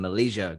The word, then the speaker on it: Malaysia: He played in his native country, Portugal, Spain, and Malaysia. Good pronunciation as well. Malaysia is how we pronounce that last one.